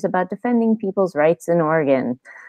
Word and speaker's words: Oregon: ask Oregon correctly and if you pronounce it organ like an body organ only really skeptical of you I don't know what I'll thanks though or Oregon dozen we're again yeah just say Oregon so good work there